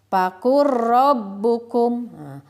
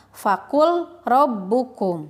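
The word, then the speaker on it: فَقُلْ رَبُّكُمْ: Membacanya seperti ini. Fakur rabbukum. Fakur rabbukum. Seperti itu ya. Jadi lamnya hilang. Pembacaan yang salah atau yang kurang tepat. Fakul rabbukum. Nah, itu kurang tepat membacanya.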